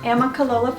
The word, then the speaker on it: Amicalola: Some of the people I'm working with and then some of you out there told us to try Amicalola Falls. Right. 5 syllables. Amicalola Falls for a great hike because we love to get out into nature.